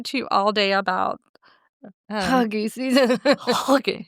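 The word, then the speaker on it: hygge: talk to you all day about Huggy season.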